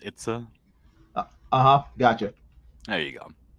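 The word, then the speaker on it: Itse: what it's a okay like i-t-s-e but it's pronounced it's a uh-huh gotcha there you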